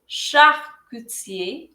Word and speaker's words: charcutier: charcutier, charcutière, charcutier এখানে ch এর উচ্চারণ হচ্ছে শ, এর পরের সিটার উচ্চারণ হচ্ছে ক, আর টির উচ্চারণটা হচ্ছে চ। সো এটা হবে charcutier অথবা charcutière।